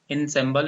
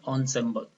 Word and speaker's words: ensemble: This is not ensemble, it is pronounced ensemble.